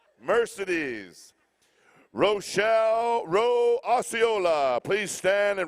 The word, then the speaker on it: Mercedes: Here, I just got through saying that my aunt is Mercedes, and I pronounced it wrong. Mercedes.